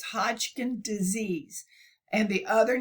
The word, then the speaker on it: Hodgkin disease: had been so sick Hodgkin's Disease Hodgkin and it's and we I always pronounce it with a plural but it's Hodgkin disease and the other name